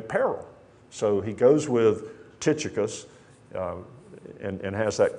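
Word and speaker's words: Tychicus: with another brother in Alabama we call him taus I think the proper pronunciation is T tius you'll hear me say taus that's just the way I was raised to say it but it's tius he's going with onesimus by the way that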